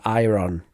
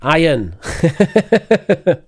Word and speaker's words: iron: to say Salman and iron I'm really worried it's so popular I'm going to destroy it salmon iron there's no ER there's no ER in Iron there's never been an